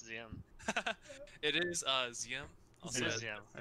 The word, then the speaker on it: ZM: is, can you tell us how to properly pronounce ZM? It is Ziam.